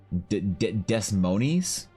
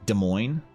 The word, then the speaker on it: Des Moines: away full round trip usually in other states desimonies in Des Moines is that the cornfields Des Moines sorry Des Moines my bad mispronounce that plans for game table is to